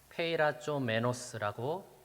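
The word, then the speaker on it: πειραζόμενος: 미혹됨이니 여기서 말하는이 시험은 원어로 볼 때는요 페이라 좀 메노스라고 발음을 합니다이 시험은 시련이 아니라 유혹을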